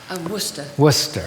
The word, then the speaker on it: Worcester: pronounce right versus sister worcester how do we pronounce that worcester right so tracy is the marchioness of worcester